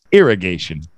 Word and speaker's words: irrigation: an a irrigation irrigation and the stress is on gation so that's where it's going to go up a bit irrigation irrigation irrigation is